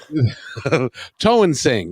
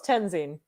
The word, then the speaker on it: Toensing: Toensing, right? Close. Tenzing.